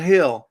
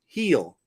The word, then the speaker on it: Hillbillies: It's not hill. It's heel. Like that you're getting healed, Backwoods Hillbillies.